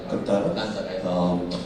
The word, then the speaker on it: Kannada: Yes, I mean, starting with KGF, Kannada, if I can, that's the right way to say it, Kannada.